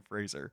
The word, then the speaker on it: Fraser: like it right like you know the word Razer it rhymes with razor Brendan Fraser has anyone on your